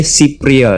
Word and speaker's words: cypriol: Oke, jadi bacanya cypriol ya.